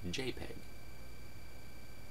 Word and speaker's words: JPEG: has always been pronounced jpeg because that makes the most sense and it starts with a J and I actually have